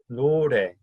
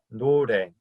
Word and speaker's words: 노래: I like to think of it as there's no ray of sun in the shower, which is where a lot of us do most of our singing, right?